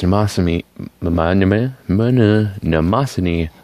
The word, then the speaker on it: Mnemosyne: meet the Mondamin Mona Mnemosyne II with like a Japanese accent because it's Japanese brand I don't know why